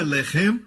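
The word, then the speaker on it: לֶחֶם: Mesma escrita, a única diferença é a pontuação. Eles colocam os pontos em diferentes lugares. Um é Lehem, o outro é Lahem.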